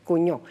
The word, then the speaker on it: Cugnot: inventado por Nicolas Joseph cuño me decías en el corte que se pronuncia cuño eh un mecánico ingeniero